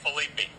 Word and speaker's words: Philippe: Los Angeles a long time is it properly pronounced Felipe or phelips or i' say Felipe Felipe yeah but it really can be pronounced